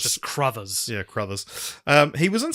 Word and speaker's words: Crothers: time for the podcast, and also learning that Carruthers is spelt that way and not what I'd assumed, which is some sort of like corduroy situation where it's like Carruthers. But it's not. It's just Crothers.